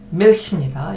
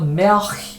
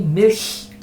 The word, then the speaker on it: Milch: 그 다음에 die 밀히입니다. 이걸 또 멜히 이러지 마시고요. L 발음이 독일어에서는 상당히 플랫하다. 그냥 우리말은 리을처럼 발음하시면 쉽습니다. Die Milch.